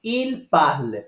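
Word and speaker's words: parlent: Para quem nunca estudou francês, nós não pronunciamos o S final, tampouco a terminação ENT dos verbos na terceira pessoa do plural, ok?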